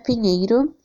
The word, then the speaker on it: Pinheiro: After Peter, we have Pinheiro. It's a Iberian username. In Spain, it's pronounced like peanut or pineiro.